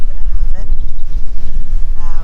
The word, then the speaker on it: Bunnahabhain: The BH is pronounced B, so it's Bunnahabhain.